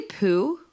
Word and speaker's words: Poo: And I don't know if you pronounced it right. Did you say poo?